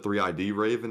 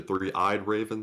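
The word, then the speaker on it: three-eyed raven: to correct a pronunciation i said three id raven it's actually three eyed raven thank you for mark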